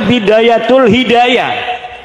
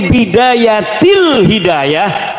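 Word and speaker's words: بداية الهداية: Nang apa tatong diarani goblok iku Kiai Ayib karena deke maca Bidayatul Hidayah harus sebah dibacanya Bidayatil Hidayah karena anak huruf jerbe.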